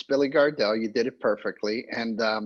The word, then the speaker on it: Billy Gardell: I just thought I think I said his name wrong I know you know and I think no it's Billy Gardell you did it perfectly and thank you and